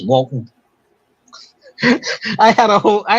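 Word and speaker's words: Waltham: yeah and it's w and it's walam not Walt him it's walon I had a whole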